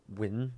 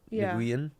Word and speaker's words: Nguyen: And you were saying it's more like Win than Nguyen. Like Nguyen is not fucking correct.